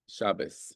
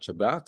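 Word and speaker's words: Shabbos: And if you use Yiddish, you say Shabas. Shabas. Okay. Not Shabbat. Shabas.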